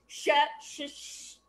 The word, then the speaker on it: Schwensen: He even taught us how to phonetically say his name. Yeah, go ahead. Try it. I dare you. Try it. Schwensen.